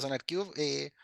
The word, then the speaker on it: SonarQube: Sí, se pronuncia SonarQube.